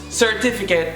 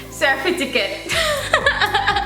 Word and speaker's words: certificate: The first one, as usual, us Jamaicans, we pronounce certificate as Cerfiticte. Where you go with that? How we mix up the two, I don't know. Because they like put the F before the T.